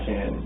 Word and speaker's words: Shanann: It's easier to say it when I spell it out, but you keep wanting to say Shannon, of course, but a lot of people call her Shannon.